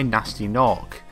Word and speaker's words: Gnasty Gnorc: The story follows a young dragon trying to save his fellows from a petrification spell cast on them by Nasty Nork, spelled with silent G's.